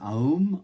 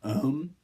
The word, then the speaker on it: Om: One of the more widely known mantras is Aum, or Om. It is a primal sound that is pronounced A-O-M.